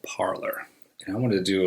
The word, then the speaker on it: Parler: expression and Trust parlor originally was meant to be named for the French word to speak but it's not pronounced parlay it was founded in